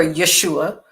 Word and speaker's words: Yeshua: a believer in Jesus, which is his Greek, the Greek name for Yeshua, and that is how you say his name in Hebrew.